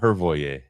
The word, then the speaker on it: Hrojve: But Hrojve, yeah, that's how you say it.